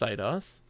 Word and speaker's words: Eidos: I think what happened in reality is that he, when interviewing Eidos and stuff like this, saw the fan mail, saw the artwork. Eidos? Eidos. It is pronounced Eidos.